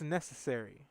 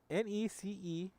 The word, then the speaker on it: Necessary: so up next trace necessary and that is actually that is not a mispronunciation that is what it's written right here necessary n-e-c-e-s-s-a-r-y for everybody wondering and it is in fact necessary so i would want